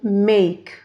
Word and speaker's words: make: at the next example make here we have two vowel letters but the second wall in this word e is silent we are not producing it this is why make